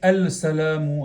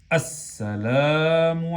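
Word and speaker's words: السلام: No decimos al-salamu alaykum. ¿Qué decimos? As-salamu alaykum.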